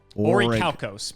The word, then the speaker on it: Orichalcos: Oh my God, how the hell did you pronounce this? The seal of Orichalcos? Orichalcos.